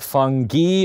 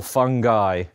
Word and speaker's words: fungi: Should fungi be pronounced fungi or fungi? or fungi, or fungi. I say fungi. I say it's almost a matter of taste. I think they're all right.